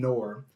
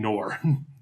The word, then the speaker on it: Noir: Schwartz and Akira find Noir, and who asks for their help in freeing Greta from... Marcus, I have to stop you. Yep. It's pronounced noir. Noir? Noir. That way. You keep saying nor.